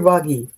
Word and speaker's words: Boogie: Is is it boogie or boggy? Boogie, like in boogie boogie boogie.